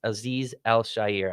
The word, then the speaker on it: Azeez Al-Shaair: Azeez Al-Shaair, I believe is how you pronounce it.